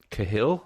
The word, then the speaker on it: Cahill: uh it's it's written and directed by mike cahill i think is how you say it is